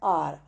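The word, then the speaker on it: hour: I study for एन आवर, आर का मतलब घंटा, मैं 1 घंटा पढ़ता हूँ। आर से पहले एन लगाते हैं क्योंकि एच साइलेंट रहता है, हावर नहीं होता ये आर।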